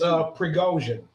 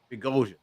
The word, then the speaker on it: Prigozhin: It's Prigozhin. Prigozhin. Okay, Prigozhin. Yes. I don't know why. It's basically just like it's spelled.